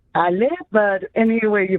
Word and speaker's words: Ale: pronounced in washington um aly is that is that how you pronounce your name uh it's actually ali but anyway you pronounce